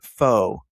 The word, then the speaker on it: pho: Number 3 is pho. It is pho. Pho. And I'm not saying a bad word. Yes, it's PHO. The Vietnamese noodle broth. It's not pho. It's not pho. It's just pho.